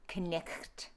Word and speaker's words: night: In Middle English, it's knicht. Knicht. Okay, so I pronounced everything, and the GH, I gave a phlegmy sound, okay?